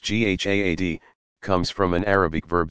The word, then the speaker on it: jihad: what is jihad you jihad pronounced GHA ad comes from an Arabic